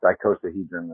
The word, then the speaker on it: icosahedron: But yes, the iicosahedron is how you would pronounce.